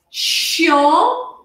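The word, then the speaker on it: chiant: Este aqui é o mesmo som que eu trabalhei com vocês agora há pouco, da batata quente, que eu vou pintar de verde. Chien, tem um i no começo. Você pode incompridar esse i para você ganhar tempo para fazer a batata quente.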